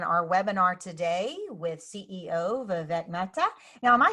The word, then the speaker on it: Vivek: it again for me Vivek yep the the way I get people to remember it is it's the vacant rhymes with heartache like the one you